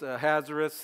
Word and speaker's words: Ahasuerus: So one is Ahasuerus, and that would be the Hebrew way to say his name, and then Xerxes, which is a Greek way of his name.